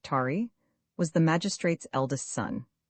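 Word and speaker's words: Taë: The child, whose name was Ta, pronounced Tari, was the magistrate's eldest son.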